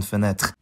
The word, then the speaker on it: fenêtre: It gets devoiced when following a voiceless plosive or fricative like in frère and fenêtre.